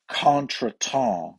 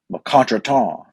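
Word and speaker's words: contretemps: word of the day the other day was conton and that is a capital k a n apostrophe this is the pronunciation so k a n where the emphasis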